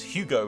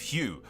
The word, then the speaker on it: Hugh: and his Abomination children a name which I have purposely mispronounced as Hugo instead of Hugh in order to see